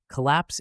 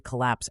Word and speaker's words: collapse: the building began to collapse after the earthquake no notice how we emphasize lapse at the end let's dive into the